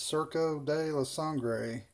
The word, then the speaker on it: Surco de la Sangre: is what it's called for people that have trouble pronouncing Spanish I believe it's cerca de la sangre which from what I